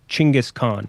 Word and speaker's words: Genghis Khan: But it is unfortunately not for Genghis Khan. Or I guess I've seen people say it's supposed to be pronounced Chinggis Khan, but I'm not. I'm saying Genghis. I was on a show somewhere where we were talking about that.